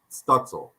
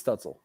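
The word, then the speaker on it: Stützle: college because you know i start both pronouncing stutzel i think it's stetzel um stencil stencil yes i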